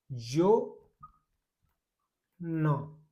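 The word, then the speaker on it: zona: उसके बाद में जेड ओ, जेड ओ का हो गया भाई जेड ओ एन ए, जो ना, जोना, जोना बोलते हैं भाई इटली में क्षेत्र को।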